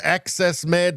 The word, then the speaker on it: AXS Med: AXS Med, pronounced Access Med, that's pronounced Access Med,